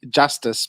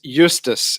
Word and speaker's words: Justus: As me being a Soti, it's going to have to be Justice, but it's Justus is the correct way of pronouncing it.